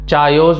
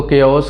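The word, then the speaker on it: chaos: अगला है केओस, चायोस मत पढ़ना इसको केओस कहेंगे, एंड इसका मतलब होता है अराजकता, और इसके जैसे शब्द हैं डिसऑर्डर या कंफ्यूजन।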